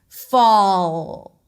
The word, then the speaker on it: fall: Fall, because you do not want it to sound like for, because then people will analyze it as for rather than fall. This is me demonstrating fall.